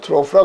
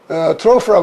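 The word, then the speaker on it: trough: 한 단어를 가지고 이렇게 세 가지 발음이 나는데 그것도 OU만 달라진 것이 아니라 GH가 묵음이 되었다가 이렇게 F로 발음이 났다.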